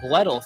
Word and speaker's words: Bledel: Bledel? Bledel, thank you.